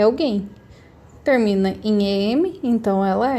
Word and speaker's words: alguém: Então, alguém, alguém. A minha sílaba tônica vai ser a última, alguém. Então, o acento vai aqui. Falo alguém, não falo pra dentro, falo mais aberto.